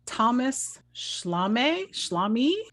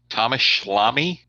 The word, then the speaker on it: Thomas Schlamme: Directed by Thomas Schlamme. Thomas Schlamme? Rhymes with salami? Yes.